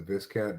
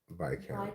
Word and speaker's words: viscount: and I believe she pronounced it Viscount. Viscount. Yeah, but you know, I guess if you are royal lineage, then you don't pronounce the S. But we commoners, maybe we don't have the blue enough blood to leave the S silent.